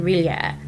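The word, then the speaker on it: R'lyeh: speaks of the mighty entity hibernating within Riia. And that's how you pronounce it.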